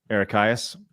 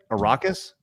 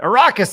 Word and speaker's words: Arrakis: I've been saying Eric Hyas for forever, but thanks. Because it's the Dune thing. What is it? Arrakis? Yeah. All right. Arrakis, thanks so much.